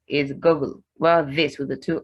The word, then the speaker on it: Google: Google. Google. It's with the oo sound. The one with the one O is Google, while this with the two O's is Google.